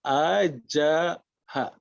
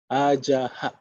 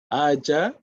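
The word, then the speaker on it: अजः: okay, not correct, because the colon is actually air going out. It's an echo of the a.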